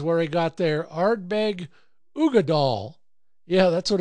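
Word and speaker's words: Uigeadail: Ardbeg Uggadal. Yeah, that's what it's called. It's spelled U-I-G-E-A-D-A-I-L. Uggadal.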